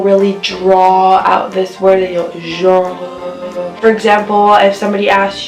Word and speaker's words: genre: Genre is spelled like the word genre in English, but we do not pronounce really the R and the E. Some people do. Usually in spoken French, you don't even hear the R or the E because it's said so quickly and so fast.